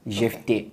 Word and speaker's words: Jefte: I pronounce it in the French way. You have Jefte. Jefte.